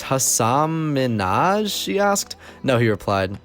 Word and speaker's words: Hasan Minhaj: it clear she didn't really know how to pronounce his name and it's Hasan Minhaj she asked no he replied yes protested Ellen no he repeated really she asked Manoj then spent the next three minutes teaching the